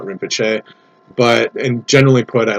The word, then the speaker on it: Rinpoche: the galaxy in which it's pronounced Rinpoche and not Rinpoche.